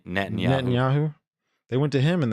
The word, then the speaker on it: Netanyahu: nyaho whatever how do you say his name Netanyahu Netanyahu they went to him and they basically said